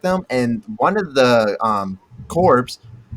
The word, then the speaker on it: corps: And one of the corps, is that how you say it? Corps? Yeah, one of the corps. Yeah, yeah. Yeah. Core. So one of the corps Like like accidentally went off, and CORE, they ended but up it's spelled fighting like the entire CORPS.